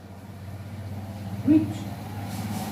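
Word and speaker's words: which: डब्ल्यू देख लेते हैं, विच, कहते हैं विच, विच, एच साइलेंट है, विच, ठीक है।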